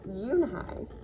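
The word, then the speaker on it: Unhei: No, Yoonhai corrected. It's spelled U-N-H-E-I. It's pronounced Yoonhai. Oh, it's you, hey, the boy said. Like you, hey.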